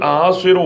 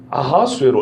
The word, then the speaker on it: 아하수에로: 기본적으로 아하수에로도요, 히브리 발음이고요, 원래 이 동네 발음 내지는 이 헬라 사람들의 발음은 크사르크세스라 그럽니다.